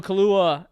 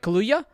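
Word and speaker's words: Kaluuya: get out is what it's called starring daniel kahlua and did i i didn't pronounce that right kaluya uh allison williams as well as also a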